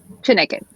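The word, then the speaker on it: Chineke!: And then we know that you recently made your BBC Proms debut with the Chineke. Am I saying it right? The orchestra's name? Chineke.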